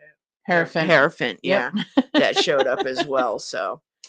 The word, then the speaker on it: Hierophant: Hierophant.